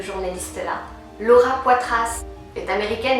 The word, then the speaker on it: Laura Poitras: Laura Poitras est américaine, mais elle a un nom français, fait que je le prononce à la française.